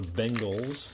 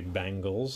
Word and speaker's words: Bengals: card for the bangles bangles properly pronounce the Bengals but some people like to say bangles I don't know why